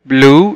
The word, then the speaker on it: blue: وزي مثلا كلمة blue يعني ازرق، هنا ال U E موجودين في اخر الكلمة وهيتنطقوا برضو كأنهم حرف ال U.